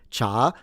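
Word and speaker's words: 茶: The Chinese in Mandarin pronounce it cha second tone.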